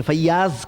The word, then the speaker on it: فیاض: لقب پڑ گیا فیاض۔ فیاض نام سنیں گے، فیاض کہتے ہیں، یاز نہیں ہے وہ، میں نے کہا نا گڑبڑ ہے سب تلفظ میں۔ فیاض، تو فیاض کہتے